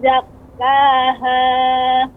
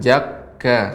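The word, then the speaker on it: زكّا: Ya, untuk kaf Ibu, zakka. Jangan jakka. Ya, seperti itu. Bukan huruf jim tapi zai, kemudian ka, zakka.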